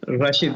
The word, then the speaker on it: Rashid: No sé si mencioné bien su nombre, Rashid. ¿Cómo se dice? Rashid. Ándele.